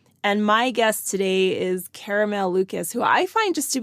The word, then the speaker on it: Caramel Lucas: on my podcast today caramel Lucas is that am I pronouncing that correctly perfectly yeah fantastic all right